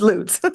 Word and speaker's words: Lutz: And for anybody that's near Loots, how do you say it? Loots. It's Loots.